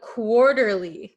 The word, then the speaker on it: quarterly: okay then we have quarterly quarterly quarterly do you guys know this word quarterly and if you'll notice quarterly this t is gonna become a flap t so if you watch